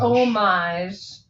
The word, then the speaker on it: homage: I almost said homage, didn't I? What is it? Sunday. It's a nice homage to. The age is silent.